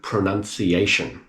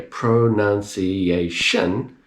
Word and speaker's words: pronunciation: So let's say the word pronunciation. If you can hear pronunciation, you have a very good chance of copying this to pronounce it correctly. But if you hear pronunciation, I can't quite hear it.